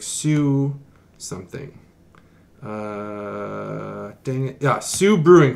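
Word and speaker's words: Soo: canadian american word and s-o-o is sue like the railroad line that's the northern line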